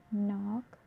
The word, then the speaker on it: knock: So K is not pronounced when it comes before an N, like knife, knee, knock, not, knowledge.